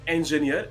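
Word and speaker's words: engineer: Correct pronunciation है इंजीनियर एंड नॉट इंजीनियर।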